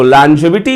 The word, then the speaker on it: longevity: Okay, so the very first one is lon, second one is jev, and third one is and fourth one is t.